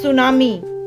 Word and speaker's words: tsunami: तो ये टी लिखा है लेकिन बोलने में टी साइलेंट होता है, ये है सुनामी।